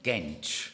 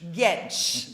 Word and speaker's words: Gentzsch: Could you please pronounce it for me? Gentzsch. Gentzsch.